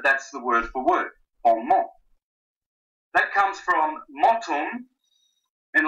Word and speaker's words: bon mot: Bon mot. You don't pronounce the final T. Sometimes in French that's how they speak, but that's the word for word. Bon mot.